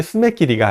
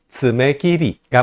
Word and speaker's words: 쓰메끼리: 일본어로 발음하십니다 뭐라고 하죠 스네끼리라고 발음하시는 분들이 많아요 근데 이것도 역시 스냅 길이가 아니에요 스메끼리가 맞습니다 하는 바람이에요 들어볼게요 지네끼리